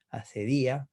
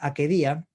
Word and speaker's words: acedia: Siglo de Oro también, asedia, con acento en la I. ¿Eh? Proviene del griego, la palabra griega akedia, y en latín, pues como ya dije, asedia, akedia, o achedia, o achidia, o acchidia.